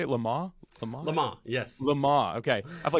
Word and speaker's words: Le Mans: Lamaze? Lamaze, yes. Lamaze, okay. I've watched it forever and don't actually know how to pronounce it.